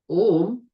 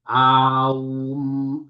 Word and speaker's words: Om: You'll see some people meditate and go, Aum. No, that's not what it's done. That's someone saying, I've read the Upanishads and that's how I chant. It's Om, Om, Om.